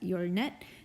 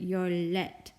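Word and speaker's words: 열넷: And so I don't really know why it says yornet, because Koreans wouldn't pronounce that yornet. They'd pronounce it yorlet, yorlet. So this would just be yorlet.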